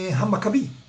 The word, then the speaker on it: Hamacabi: So let me help you spell it easily. H-A-M-A-C-A-B-I, Hamacabi.